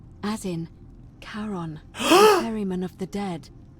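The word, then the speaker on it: Charon: could see oh what a marvelous lamp it's Karen do you see it somebody waking up by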